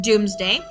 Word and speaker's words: Domesday: Looks like Domesday, but it actually is pronounced Doomsday.